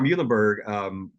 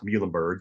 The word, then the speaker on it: Muhlenberg: But we actually put mules on each one of these Muhlenberg products because we want to help people sound it out and say it.